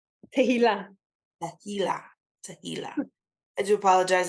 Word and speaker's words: Tehilla: That's as close as someone who doesn't speak Hebrew pronounces it. What's your name? Tehillah.